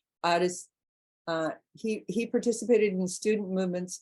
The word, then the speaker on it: Addis: That's Addis. So I started pronouncing it the way they do. Addis.